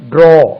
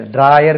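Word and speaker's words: drawer: ட்ரோ அது ட்ரா கிடையாது, ட்ராயர் கிடையாது. ட்ரோ ட்ரோ அதுவும் ட்ராயர் சொல்லணும் இல்லையா, அது ட்ரோ அவ்வளோதான். ட்ராயர் கிடையாது, ட்ரோர் அப்படி கிடையாது. ட்ரோ அப்படின்னு அது ஒரு ஆட் உச்சரிப்பு மாதிரி இருக்கு.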